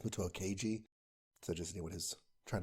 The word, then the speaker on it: Muto Keiji: It was not, I think I said Muto Kenji. It's Muto Keiji.